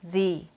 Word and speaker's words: Z: 말씀 드렸던 글자 네요 제트 라고 읽으면 안 되고 g 라고 발음해 한다고 말씀드렸죠 그럼 어떻게 발음해야 정확하게 발음할 수 있을까요 여기 보이는 이 모양처럼 입술을 양옆으로 당긴 상태에서 등이 하고 소리 내면 되요 제트가 아니라 뒤 라고 발음해야 한다는 점 꼭 기억하세요 그럼 영어식